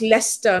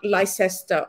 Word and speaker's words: Leicester: But beyond that, I mean, it's pronounced Leicester, not Leicester. Okay, fine. Thank you so much. Leicester.